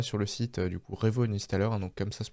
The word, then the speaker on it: Revo Uninstaller: Donc on va sur le site du coup Revo Uninstaller, hein, donc comme ça se prononce.